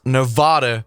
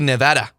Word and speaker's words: Nevada: rant about nevada and how it should be pronounced nevada because it's spanish spanish look i don't know what mexican spanish is but castellian spanish european spanish original spanish it would be nevada the v almost sounded like a bee but it